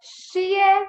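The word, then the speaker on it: 谢谢: So now the letter X is pronounced as sh. Sh. Okay? So we go xie, xie, xie, xie, xie, xie, xie, xie. And 4 tone, right? Falling tone.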